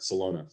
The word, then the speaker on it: Celona: They would just think of Barcelona and just the last part, Celona.